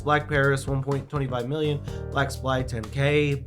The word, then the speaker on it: BLVCK Paris: black paris or blvck paris but it is pronounced black paris now they are going to be doing 9999